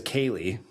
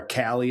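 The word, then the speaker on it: Cailey: My daughter's name is Kaye and it's spelled like, you know, like you would think like a kale, bale, tail, c a i l e y, right? And people call her Callie all the time.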